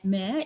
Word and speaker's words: Mer: colleagues about the shape of Mer Island, or Mer. You can correct my pronunciation, Gail.